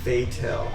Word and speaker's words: Fatel: Mitch Patel. How you doing today, Mitch? It's pronounced Fatel.